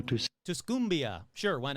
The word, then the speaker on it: Tuscumbia: Tusia will be looking at how to Tuscumbia. Sure, why not? But this Tumbia isn't in Alabama. It's in Missouri. So, let's go with Tuscumbia.